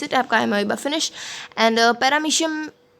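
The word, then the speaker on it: Paramecium: तो एमोइबा एंड पैरामीशियम, इसको काफ़ी बार पैरामोशियम भी पढ़ा जाता है, लेकिन कुछ भी प्रोनाउंसिएशन कर सकते हैं, पैरामीशियम हम अभी रखते हैं।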